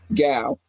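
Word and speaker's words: Gow: Gal, because it's spelled like cow, but with a G.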